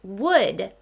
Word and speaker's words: would: We recognize that OU pattern, but we learned that OU says ow. It's not saying ow in this word.